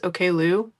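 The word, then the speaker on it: Oklou: My current favorite is Okloo, spelled like okay K l o u.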